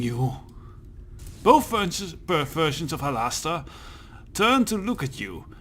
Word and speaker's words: Halaster: to say his name its Hollister since it has to rhyme with master yeah that's cannot Hollis yeah whatever so is there some kind of reward to fulfilling you both french perversions of Hollister turn to look at